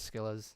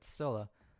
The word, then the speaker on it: Scylla: Teed says Skillas. Other people say Skillas. I'm like, no, it's Scylla. Like, come on, I Priscilla. just, I don't hear anyone say it. I just always pronounce the C.